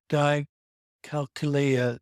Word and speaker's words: dyscalculia: But Kris has grown, developed her skills and refuses to let dyscalculia define her. How is that pronounced? Kris Conlin: Dyscalculia. Greg O'Grady: Dyscalculia. Okay. Kris Conlin: I always think about it like "dyscalculator."